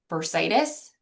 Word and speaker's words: bursitis: They said I was told it is bursitis. Am I pronouncing that right?